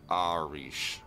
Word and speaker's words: Arish: His name is pronounced Arish.